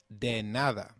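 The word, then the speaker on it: de nada: thank me for anything of translates to De and nothing translates to Nada hence your welcome or the reply to thank you translates to deada Loosely meaning don't thank me for anything so can you try saying deada it's called denada very good let's now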